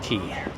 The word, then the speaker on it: Quay: is called River key spelled like Quay but it's pronounced key key is like a